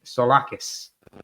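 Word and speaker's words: Tzolakis: And again, a familiar name for those of you who remember last season is the Olympiacos goalkeeper, Konstantin Solakis, is how you pronounce it.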